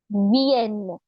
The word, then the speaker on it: vienne: The pronunciation here. V-N. Vienne. Remember phonetics? Consonant plus I. V. E-N-N-E. N. Vienne. Like and the N. Italian. So very similar to Vienne.